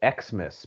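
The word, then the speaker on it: Exmas: It was called Xmas, but X is spelled EX, like your ex-boyfriend or girlfriend.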